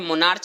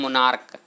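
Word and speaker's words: monarch: इसको जो बोलते हैं नेक्स्ट नीचे देखे तो इसको बोलते हैं मोनार्च, नहीं इसको बोलते हैं मोनार्क।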